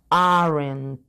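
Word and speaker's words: aren't: abreviatura sería you aren arent es importante la pronunciación de la t al final en español no lo acostumbramos mucho pero en inglés siempre hay que enfatizar el final de las palabras Entonces si vamos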